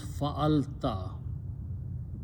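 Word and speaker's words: فَعَلْتَ: When you have these three letters, fa and then lam, fa'ala, if you put a ta at the end and pronounce fa'alta, and that's in the box number 3, fa'alta.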